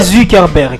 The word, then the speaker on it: Zuckerberg: Tu t'es tu t'es rid tu peux tu peuxberg c'est c'est Zuckerberg avec U. Pas où hein.